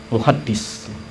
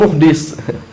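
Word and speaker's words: مُحَدِّث: Jangan salah baca. Kadang-kadang itu nggak ada harokatnya. Antum, oh itu ternyata ini muhaddis. Al-muhaddis syekh misalkan. Antum bacanya muhdis. Ini bahaya lagi ya. Jangan salah. Ya. Karena muhdis itu artinya apa tadi? Pelaku maksiat. Pelaku maksiat syekh fulan min bahayanya maksudnya. Jadi muhaddits ya, itu ahli hadis.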